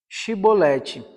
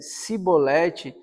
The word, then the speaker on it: chibolete: respondesse que não diziam Então diga chib chibolete se ele dissesse sibolete sem conseguir pronunciar corretamente as palavras pretendiam